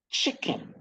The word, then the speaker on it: chicken: Chicken, chicken, the chick is stressed, kin low pitch.